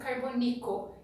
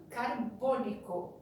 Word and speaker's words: carbônico: Lembrando que a sílaba tônica nunca será a última, então não é ácido carbônico, é ácido carbônico, tá?